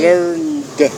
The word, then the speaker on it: learned: And here this you pronounce like D. D. Learned.